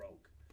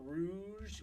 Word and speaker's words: Rogue: UK there's no excuse for that it is pronounced ounc Rog I don't care if you call it Rouge in the UK it is pronounced Rog oh